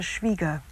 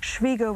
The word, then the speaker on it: Schwieger: I think it would be Schwieger because it's spelled I-E rather than E-I. I've always understood that the pronunciation is Schwieger.